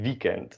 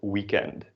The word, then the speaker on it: weekend: So the E we pronounce as English, but the W we pronounce as Dutch. So you say weekend and not weekend.